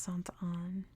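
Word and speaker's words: Sainte Anne: see let's see B I'm sure it's pronounced Sant on because um people here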